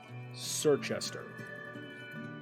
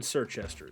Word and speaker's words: Circhester: CIR. That's how it starts. See, there's the spelling. Circhester.